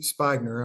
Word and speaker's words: Spigner: coaching advice all right my name is spagner I know it's spelled spigner but that's it's fine